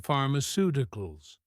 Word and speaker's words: pharmaceuticals: This helps us to work out the stress position in pharmaceuticals. Pharmaceuticals stress on the third to last syllable.